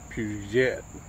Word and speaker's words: Peugeot: An old Peugeot. Puget. That's the West Virginia pronunciation.